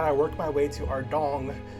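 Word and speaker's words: Ardougne: After that, I worked my way to Ardong, how do you say? Oh yeah, it's Ardong Temple to do the quest Monk's Friend and celebrate finishing the quest with a party!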